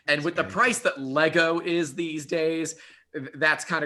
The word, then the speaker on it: Lego: It's It Lego. is true. Lego. Singular Lego and plural. It's always Lego.